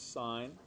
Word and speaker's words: sine: This represents sine. And the sin, this, when it's written sin theta, it's actually pronounced sine of theta.